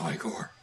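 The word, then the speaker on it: ichor: with magical I core that's pronounced I core so at iqor just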